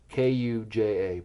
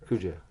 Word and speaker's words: Kuja: Beast Pirates or D I'm probably mispronouncing as Kuja pirates k-u-j-a pirates you did right Kuja Kuja Kuja what is